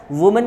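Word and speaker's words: women: वुमेन का क्या होगा, वुमेन, बच्चों वुमेन बोलते नहीं, इसको बोलते हैं वीमेन, ठीक है। देखो हम लोग गलत प्रोनाउंसिएशन कर देते हैं इसका, वुमेन, ये ठीक है, ये वुमेन नहीं है, ये वुमन नहीं है, ये वीमेन है।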